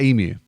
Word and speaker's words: emu: Now, Americans say emu like it's a cow sound. Now, I'm giving a lot of blame to that insurance company for this one. They've trained an entire nation to say moo.